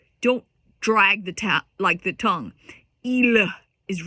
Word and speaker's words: il: So one thing that we want to be careful of is don't say il Don't drag the tongue. Il is wrong. It's il. Il. So the L is kind of silent.